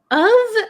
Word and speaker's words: of: of and off so o f is pronounced of of so uh like um of means belonging to something so uh I can't think of an example with of now um but o is off off like turn off the lights turn off the music okay so the pronunciation is different the meaning is different okay uh teacher can